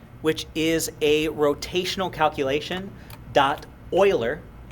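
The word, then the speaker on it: Euler: Oiler I know it's spelled but it's actually a famous mathematician named Leonard Oiler if you ever hear anybody say uler it means they know nothing about mathematics but this is an Oiler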